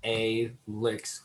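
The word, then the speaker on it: Alicks: And Alex, which is A-Licks, which I fucking hate how it's spelled, but A-L-I-C-K-S is some cool, electronic weird shit.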